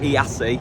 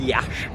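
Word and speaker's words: Iași: who was from Yash because apparently it's not pronounced yasi it's p it's pronounced Yash don't know how you we that one out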